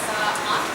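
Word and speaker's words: ساعة: So if that's at the end of the sentence, what we say, we pronounce it as Sa'ah.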